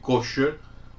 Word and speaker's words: kasher: Y yo digo kasher porque yo sé que ustedes están acostumbrados a oír kosher, pero kosher es en inglés, es como suena la palabra en inglés, que se escribe kosher, pero en hebreo original es kasher.